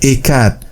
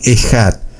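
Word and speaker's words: אחד: Nosotros la vamos a pronunciar Ekat, aunque se puede pronunciar también Ejat.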